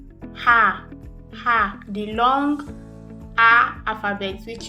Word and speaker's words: H: Ha. The long A alphabet, which is the alphabet A. So this one is alphabet H, which is pronounced as Ha. Ha.